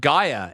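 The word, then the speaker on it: Gaeya: sorry about this uh this pun but but Gaia is the name of the musical artist this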